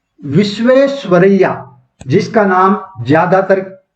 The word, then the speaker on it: विश्वेश्वरैया: हाँ, सर M विश्वेश्वरैया, जिसका नाम ज्यादातर प्रोनाउंस नहीं कर पाते हैं। राहुल गांधी भी नहीं कर पाए थे एक बार। हाँ, वही है, विश्वरैया।